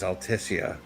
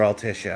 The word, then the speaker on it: Altissia: But we're about to see the beauty that is Altissia or Alishia. I I noticed the pronunciation of the of the city's name goes back and forth in this game.